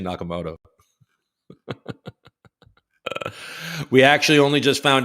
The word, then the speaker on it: Nakamoto: to be Bitcoin inventor Satoshi nakam nakam I can see how these idiots mispronounce it Satoshi Nakamoto we actually only just